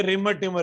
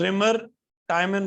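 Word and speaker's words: Reimer–Tiemann: जितने तुम्हें मिलेंगे ना, इंक्लूडिंग टीचर, वो बोलेंगे रिमर टिमर रिएक्शन। क्या बोलेंगे? रिमर रिमर टिमर reaction. पर ये रिमर टिमर रिएक्शन नहीं है, दिस इज रिमर टाइमन रिएक्शन।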